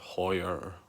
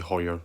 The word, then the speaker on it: Haier: quick review on the i think it's pronounced higher here no idea washing machine i'm going to say higher like the watch so i've just got